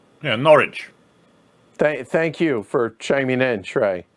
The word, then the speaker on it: Norwich: and he also said don't pronounce the W in Norwich yeah Norwich thank thank you for